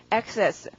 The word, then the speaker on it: access: 강세가 앞이고요. 발음은 access.